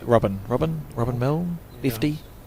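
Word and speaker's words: Milne: Robin Milly.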